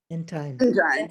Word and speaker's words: Entine: introduce gene enten or end time i hope is it entender in time in time rhymes with nine okay uh sorry about that gene entine who is a member